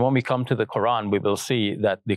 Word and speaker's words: Koran: It is cited in the Quran, he spells Quran, K-O-R-A-N, so I pronounce it that way. It is cited in the Quran, the holy book of